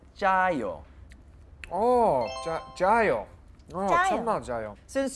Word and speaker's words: 짜요: It's like a J sound, but it is two J's. So it's 짜요.